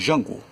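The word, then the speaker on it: Django: chamado de jango de jango veja que ali a pronúncia já ali já tem um som de o Jota já faz o som DJ DG e fazer som de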